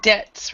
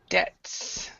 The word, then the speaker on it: debts: So debts, remember the B is silent, so debts.